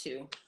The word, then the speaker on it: Two: So it's another name you can add to the pot, but it's pronounced Two, like the number 2.